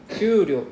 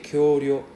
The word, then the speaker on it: 給料: Kyuryo, you say kyoryo. Yeah. So it's a problem with Japanese learners like they see this word and then they will pronounce like kyoryo. By the way, kyoryo means dinosaur.